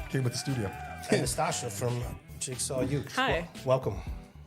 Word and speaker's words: Nastacha: and Nastacha from Jigsaw Youth. Hi. Welcome. Thanks for having me. Did he pronounce her name right? Nastacha.